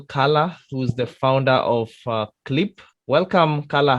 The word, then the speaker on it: QLIP: that the the name of the brand it's clip okay so even though a lot of i love um us usually make that mistake it's pronounced clip the idea is like the q is supposed